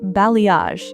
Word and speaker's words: balayage: What about balayage? How do you even say that word? It's pronounced blayage. It's a French word.